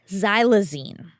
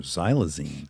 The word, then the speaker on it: xylazine: amputations it is I don't know how to pronounce it but I would try by saying xylazine ooh xylazine spelled x y l a z i NE